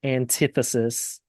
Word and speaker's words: antithesis: point out before you continue the word is pronounced antithesis as in the pronunciation over here so could